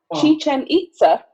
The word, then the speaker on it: Chichen Itza: We're going to move over to Mexico now, and we are going to, and I did look up the pronunciation and remember this one, Chichen Itza.